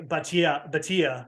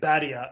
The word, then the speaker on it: Bhatia: I also had to make sure I had to get Akshay Bhatia right, and I didn't say Badia or something, which I usually do.